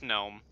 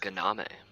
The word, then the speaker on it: gnome: Is it pronounced gnome or just gnome? No, it's gnome.